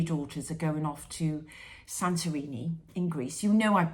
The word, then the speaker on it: Santorini: So on Monday, I'm taking, me and my 3 daughters are going off to Santorini in Greece.